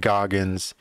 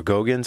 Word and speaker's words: Goggins: right now are um david goggins or gogans i think he pronounces it goggins david goggins and jordan